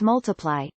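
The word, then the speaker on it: ×: Sheeran's second studio album, Times pronounced Multiply, was released worldwide on 23 June 2014.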